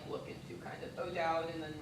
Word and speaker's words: O'Dowd: So I think potentially like some of the schools I'm thinking of are like Bishop O'Dowd in like Oakland and like Moreau and Hayward.